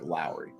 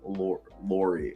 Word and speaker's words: Lauri: Lowry even though it's about like Lori it's pronounced because he's a dude and he's like foreign it's like Lowry I just want no the only reason I asked you is I heard someone ESPN kept saying Laurie and I'll and I was just like dude